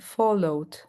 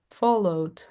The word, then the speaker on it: followed: for me it's okay you just have to mark the D like followed followed just mark from the to the past enjoyed with the enjoyed played tried.